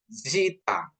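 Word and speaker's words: ζήτα: Terus ada zita. Zita. Zita ini ada penekanannya di sini. Jadi disebut zita.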